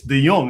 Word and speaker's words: De Young: For those who have difficulty pronouncing my surname, I keep running into people who have no idea how to say my surname. It's De Young, and I'm here with Usama Dockwing Duck.